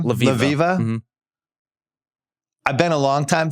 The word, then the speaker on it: Levieva: Levieva.